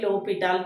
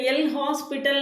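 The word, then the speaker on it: L'Hôpital: pronounce பண்ணியிருப்பீங்க அதான் பிரச்சனை எல் இதான் லோபிட்டால் இதில் ஹைச் சைலண்ட்டு எஸ்ஸும் என்னது சைலண்ட் அதனால நம்ம எப்படி தான் இதை ப்ரொனவுன்ஸ் பண்ணணும் அப்படின்னு கேட்டிங்கன்னா லோபிட்டால் தியரம் அப்படின்னு தான் ப்ரொனவுன்ஸ் பண்ணணும் ஆனால் நீங்கள் ஸ்கூலில் காலேஜில் எல்லா இடத்துலையுமே நிறைய இடங்கள்ல எல் ஹாஸ்பிட்டல் ரூல் அப்படின்னு சொல்லி கொடுத்துருப்பாங்க இந்த மேடம் ஏதோ புதுசாக சொல்கிறாங்க அப்படின்னு நினைக்காதீங்க ஆக்சுவலாக எல் ஹாஸ்பிட்டல் அப்படின்னு சொல்லக்கூடியது தப்பு லோபிட்டால்னு சொல்கிறது தான் கரெக்டு சரியா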